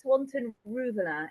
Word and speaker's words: Swanton Rouvelin: pronounce your last name it's it's Swanton Rua it's very difficult to say and actually I probably say it wrong myself so he' said it in some beautiful French accent swon Ruan okay